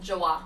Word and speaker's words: Joie: Is it Jawa? How do you say it? Joie. Joie. Okay. Joie. It's French. Joie. Joie. Okay. Joie. Okay. Like joy.